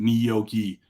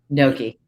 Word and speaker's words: gnocchi: pronounce that word um my wife who's not Italian pronounce it niyoki and it drives me up a freaking wall so the way I always pronounce is gnocchi Noki that's me too not